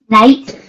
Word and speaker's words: knight: kids let's listen okay let's listen night night night k is silence okay kids follow me